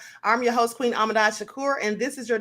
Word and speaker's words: Ahmadiyyah: Thanks for having me, Queen Ahmadiyyah. I said it right? Queen Ahmadiyyah?